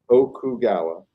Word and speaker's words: Okugawa: It's Okugawa.